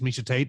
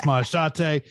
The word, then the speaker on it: Maheshate: If you look at Maheshate, if you just like peek at your line, you might think it says Misha Tate the way it's spelled out, but it's Maheshate.